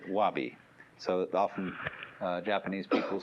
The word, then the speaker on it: wabi: The first is sabi, and that goes along with something that rhymes with it, wabi.